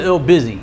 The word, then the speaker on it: LBC: Go to L Busy. You're looking for like LBUSY. No, it's LBC, but pronounced L Busy.